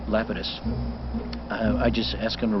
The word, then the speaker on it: Lapidus: this yo hey Lapidus they pronounced it Lapidus but I think the correct Greek is Lapidus I just asked him